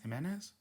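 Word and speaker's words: Jiménez: Jimenez? The accent is on the E at the end, so.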